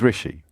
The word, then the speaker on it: Rishi: give you a clue his first name rhymes with dishy no it's not a little fishy well it is a little fishy but his name is rishi rishi sunak wrote that he